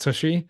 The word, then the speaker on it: tshy: But I really wanted to try out Tushy. I believe it's pronounced Tushy, Okay.